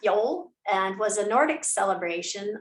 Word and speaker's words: Yule: um one of them is called yule y-u-l-e pronounced yol and was a nordic celebration observing the winter